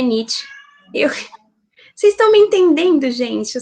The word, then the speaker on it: Nietzsche: Que tem gente que pronuncia Nietzsche, né? Eu fui descobrir só depois que falavam Nietzsche, porque meu primo me corrigiu falando, porque é Nietzsche.